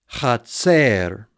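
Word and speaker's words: חָצֵר: Notice the absolute has a chet and a kametz, cha. Then the syllable division, tzade, sere, and resh, tser, chatser.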